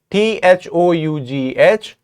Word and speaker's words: though: But here in the second word, THOUGH, this is pronounced as though. And what sound are you hearing? Though. You're hearing not oo but O sound.